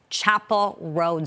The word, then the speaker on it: Chappell Roan: first name, pronounced Kamala, and the name of the Good Luck Babe singer is pronounced Chapel Road.